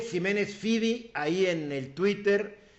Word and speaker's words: Ximénez-Fyvie: Jiménez Fibi. Les voy a decir cómo escribe. El Jiménez con X. Y el Fibi se escribe F-Y-V a la moderna, V-I-E. L. Jiménez Fibi ahí en el Twitter.